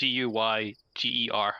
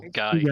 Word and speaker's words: Geiger: It looks weird, but you pronounce it like Guyger. So Geiger. Geiger.